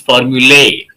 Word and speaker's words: formulae: For a traditional person, formulas is wrong word because the plural of formula is formulae. Formulae. But these days we say formulas and it's accepted.